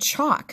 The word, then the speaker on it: chalk: But, oh, and chalk, the same way, talk, chalk. I don't say chalk. I say chalk.